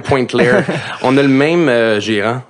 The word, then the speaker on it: Pointe-Claire: Mais c'est prononce Pointe-Claire. Pointe-Claire.